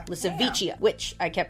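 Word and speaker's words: Lisowicia: of a modern elephant walking the planet called licha which I kept pronouncing as in my head when I was researching but it's licha I like my pronunciation better but whatever it's pronounced that way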